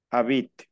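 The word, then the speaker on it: habite: última e en abit No tú no pronuncias la e tú pronuncias la t abit abit nooit Exacto hasta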